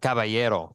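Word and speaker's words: caballo: gentleman and not no kabo means horse horse and cavayero cavayo that's correct good great pronunciation there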